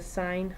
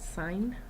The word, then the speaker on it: sin: use s I n it's not sin you pronounce it sine so sine of angle